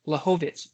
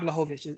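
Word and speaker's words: Błachowicz: Blachowicz, Jan Blachowicz is how you say his name.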